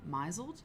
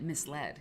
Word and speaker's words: misled: and my friend's like miseled he miseled her and she was she meant misled he misled her but she pronounced it miseled and my friend and